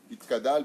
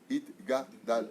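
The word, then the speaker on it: Yitgadal: Itkadal, Vitkadash. Ma putain, il n'y a pas marqué Itkadal. Et j'ai beau le dire, hein. Itkadal, Vitkadash. Non. Itgadal, le Agdil, Gadol, Gimel, Pakaf, Pakouf.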